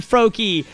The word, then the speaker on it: Froy: that time then fro most people pronounce it froak I did I said it right the first time froy Ah that's so funny